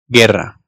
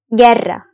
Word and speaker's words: Guerra: Araya bir adet u alalım. Ve o u'yu telaffuz etmeden normal g ya da g şeklinde okuyalım. Buraya dikkat, bu yanlış sizin karşı tarafça anlaşılmamanıza sebebiyet verebilecek bir yanlış. O yüzden lütfen bu durumda U harfini kesinlikle kesinlikle okumayın. Şimdi atıyorum Guerra yazmışım. Bunu Guerra diye okumayın. Özellikle bu videodan sonra lütfen yapmayın.